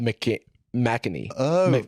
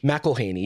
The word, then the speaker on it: McElhenney: The first attached director was Rob McEnany. How do you say his name? McElhaney, yeah.